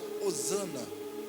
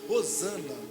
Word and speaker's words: Hosana: E H no hebraico, ela tem a pronúncia de hosana, não é hosana.